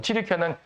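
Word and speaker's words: 튀르키예: 튀르키아는 과거엔 터키라고 불렸는데 지금 튀르키아라고 이제 본래 저 사람들의 발음을 통해 쓰는 것이고, 이 튀르키아 지역과 그리스 지역이 신약 시대의 주요 무대가 됩니다.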